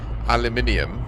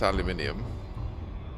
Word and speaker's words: aluminium: Uh, aluminium. I mean, you spelled it wrong. Oh, you spelled it correct to how you were likely taught it is spelled and said, but it's not. It's aluminium.